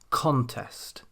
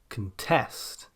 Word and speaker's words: contest: Nouns then tend to place their stress on the first syllable, contest, whereas verbs tend to place their stress on the second syllable, contest.